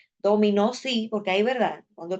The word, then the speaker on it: dominó: dom ahora sí J dominó Sí porque ahí verdad cuando pronunciamos así sí porque ahí se se escucha que está acentuado en la última sílaba ahora bien si yo